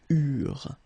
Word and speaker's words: eurent: Okay, remember that when we've got this ENT ending at the end of the plural form, so third person of the plural, you don't pronounce it, so you get eurent.